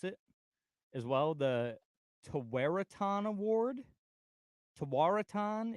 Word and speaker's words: Tewaaraton: The Tawaraton Award. Tawaraton. It's Is it like a Native American name? Yeah, it's Okay. Tewaaraton.